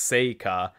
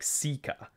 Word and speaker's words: Seika: point out quickly that his sister's name which I had previously pronounced sea is apparently pronounced more like seika so that will be how I'll be saying it going forward anyway Lucius asked seea